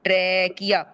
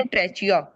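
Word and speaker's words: trachea: लेट me just right ट्रैकिया। इसकी spelling ऐसे जैसे ट्रेचिया। बट हाउ डू we pronounce it? ट्रेकिया। ट्रेकिया। ट्रेकिया।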